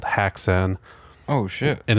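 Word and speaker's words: Häxan: An ah sound. Haxan because when you like Blue Oyster Cult, the O in oyster got the two dots and it's pronounced O.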